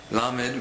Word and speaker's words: Lamed: next letter is lamed lamed makes a standard l sound as in English like the word love L me makes an